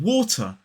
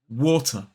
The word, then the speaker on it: water: Now, in a modern British RP accent, the T in the word water is pronounced quite cleanly and quite crisply.